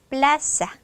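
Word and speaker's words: plaza: 통에 발음해 주시고요 자 강색 규칙 모음이나 NS 뒤에서 두 번째 여기다가 힘줘야 되겠네요 그래서 플라사 플라사 물론 스페인 스타일로 하면 플라사 플라사 자가 되겠죠 자 모음 기준으로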